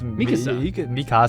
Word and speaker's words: Mikasa: Yeah, it's Mikasa.